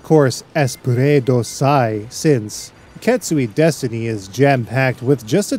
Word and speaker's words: Deathtiny: katsui destiny he's kizunajikokutachi no not death tiny or death tinny but destiny due to ambiguous japanese pronunciations and their love for linguistic jokes and puns was released to the